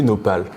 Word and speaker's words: Nopal: Et la question que je me pose ensuite, c'est pourquoi tu l'as nommé Nopal? Nopal. Nopal, déjà c'est facile à prononcer.